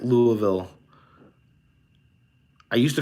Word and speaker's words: Louisville: Ryan Nodal says, how do you pronounce Louisville? I think that's what I just said. I think that is the correct Louisville. I used to call it Louisville.